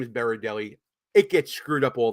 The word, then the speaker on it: Berardelli: I'm sorry if I mispronounced your last name. My last name is Berdelli.